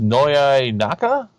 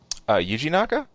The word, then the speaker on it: Yuji Naka: How do you pronounce this? Noya Naka? Did I get that right? Yuji Naka?